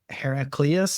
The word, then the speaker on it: Heraclius: He's a part of the Byzantine Empire under Heraclius, I think is how you say his name. Yes. Yeah.